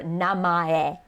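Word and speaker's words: 名前: first name is your namae notice how it looks like if you're looking at the romaji it just looks like name that's misspelled with a typo in it but it's three syllables so you start with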